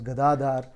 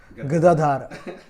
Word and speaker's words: Gadadhara: explain the point that his name is pronounced as gadadhar not gadadhar gadadhara means one who holds a donkey because in hindi basically is a bad is an abusive word which means donkey so dhara dhara dhara